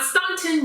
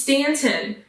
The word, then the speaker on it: Staunton: So, Staunton Underground Comics and Zine Fest is an event that was happening in Staunton, Virginia. The U is silent, okay? It is not Staunton. No, no, no, no. It is Staunton.